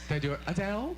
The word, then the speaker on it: Adele: and asked me how I say my name Adele Adele Adele now you know and this is